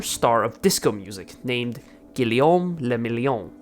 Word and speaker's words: Guillaume Le Million: of disco music named Guillaume Le Million. If it doesn't rhyme, you're not pronouncing it right.